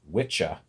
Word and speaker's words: Wicca: Angelo Saxon anglo-saxon words it's actually as I understand it pronounced witcha and which a and